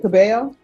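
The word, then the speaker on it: Cabell: and are you Miss cabel yes am I pronouncing your last name right yes thank you I'm always the double L's always throw me off Council have you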